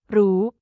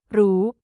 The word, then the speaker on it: รู้: In Thai pronunciation, the R sound often changes to an L sound in casual or everyday spoken language. This phenomenon occurs because the R sound, which is a trilled or rolled R, can be difficult or unnatural for some Thai speakers to produce in fast speech. As a result, they replace it with the easier, softer L sound.